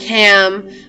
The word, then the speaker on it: Ham: It's spelled like ham, but it's pronounced Ham, okay?